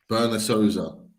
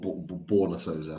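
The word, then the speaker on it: Borna Sosa: Berna Souza, or Borna Souza, I think he's pronounced. Croatia. Borna Souza.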